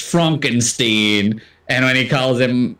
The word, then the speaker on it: Frankenstein: As he tells him his name is pronounced Frankenstein.